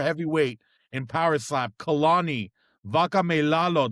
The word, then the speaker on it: Vakameilalo: Today we've got someone special, number 4 ranked super heavyweight in power slap, Kalani, Vakameilalo. Did I say that right? Yes, sir. You said it right.